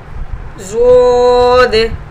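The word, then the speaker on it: ض: इस तरह से आप बच्चे को बताएंगे, side as of tongue when touching upper molars, this is pronounce ज़ोद।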